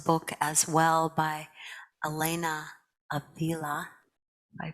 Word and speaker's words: Avila: quote in malagro's book as well by elena avila i pronounced her last name correctly a-v-i-l-a i love